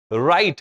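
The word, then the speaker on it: write: अब देखो डब्ल्यू आर आई टी ई लिखा जा रहा है। लेकिन डब्ल्यू हटा ही दिया। सीधा आर आई टी ई पढ़ रहे हैं। लेकिन लिखना पड़ेगा। डब्ल्यू आर आई टी। हैं? उसमें गड़बड़ी नहीं करना। राइट मींस होता है लिखना। Wrong W silent. सीधा आर ओ एन जी पढ़ रहे हैं लेकिन लिख रहे हैं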